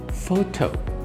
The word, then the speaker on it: photo: pronunciation it is photo the p is silent so that is the